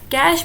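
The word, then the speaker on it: cache: कम time में वो कैश memory को एक्सेस कर लेता है। ठीक है, तो कैश मेमोरी को कई लोग कैशे मेमोरी भी कहते हैं, लेकिन जो इसकी करेक्ट प्रोनाउंसिएशन है वो है कैश मेमोरी में।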